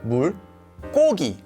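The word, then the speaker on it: 물고기: And finally, 물, 고기, which actually is pronounced as 물, 고기, with a double 기역 here too.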